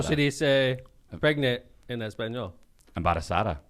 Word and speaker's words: embarazada: Embarazada. Muy bien. Sounds like empanada, but That's Spanish one kicking in, baby.